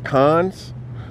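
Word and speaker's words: Conn's: It's called, I can't really, C-O-N-N-S, Cons. I think it's Cones or Cons.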